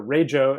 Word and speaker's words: Rego: It turned out that we didn't have any Australians on the core team, and it turned out that Rego actually means, or Rejo as it's pronounced, means car registration in Australia.